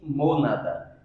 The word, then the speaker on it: monad: ele chamavam de monanda se escreve monard com d mudo mas lê-se monada que é o nosso